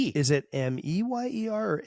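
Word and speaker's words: Mayer: So, it's Meyer, but it's spelled M A Y E R. I thought it was Mer.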